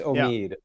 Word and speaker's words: Omid: helps people out there it's Omid oh really yeah yeah yeah it's a long e yeah okay it's very